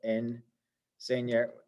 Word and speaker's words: enseña: This has got 3 syllables to it. Enseña. This is the stress syllable, the second to last syllable.